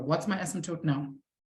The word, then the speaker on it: asymptote: How do you pronounce that word? Asymptote.